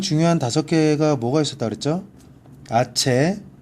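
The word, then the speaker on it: hache: 아체, 그죠? 왜? 소리가 안 나서 묵음이에요.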